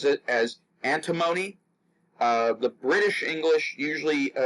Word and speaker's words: antimony: to say but it's it's antimony if you're in America that's the typical pronunciation but any one of